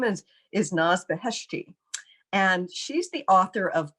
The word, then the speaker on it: Naz Beheshti: I'd like to welcome our guest today, Naz Beheshti. Hi, Naz. Hi, Christine. I hope I'm pronouncing your name right. Oh, you pronounced it perfectly.